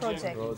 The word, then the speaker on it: project: It is only stress that makes them a verb. Action word. Homographically, as per spelling part, same. Yes, but stress makes them a noun. And stress a makes them an verb. It makes them an action word or verb.